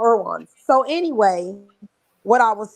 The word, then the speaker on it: Erewhon: and y'all be like Irwan, like they doing way too much, and you see a lot of celebrities there, and it's spelled Erewhon. So Irwan.